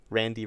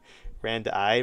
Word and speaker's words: rand: Randi range? Nah, Randy range. It's not Randi range. It's Randy range.